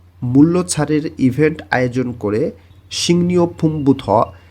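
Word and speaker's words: 식료품: সিংনিও ফুমবুথ, এখানে উচ্চারণটা হবে শিক, এর নিচে দেখেন গিয়ক বাচ্ছিম আছে, এরপরেই আবার রিউল আছে। বাচ্ছিমের একটা নিয়ম আছে, গিয়ক বাচ্ছিমের পরে যদি রিউল থাকে তাহলে গ এর উচ্চারণ হবে অনেশ্বরের মতন, আর র এর উচ্চারণ হবে নয়ের মতন। এই কারণে এখানে উচ্চারণ হবে সিংনিও ফুম বুথ, বুথ মানে থেকে।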